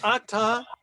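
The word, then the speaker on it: אתה: Ata. Remember, in Hebrew, most of the time, the accent is going to be on the last syllable. Not ata, but ata.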